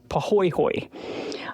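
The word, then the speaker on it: pāhoehoe: It's called pahoehoe, and it's Pahoehoe, and it's pronounced pahoehoe. I absolutely love saying that word. It's super fun. Pahoehoe moves slowly and smoothly,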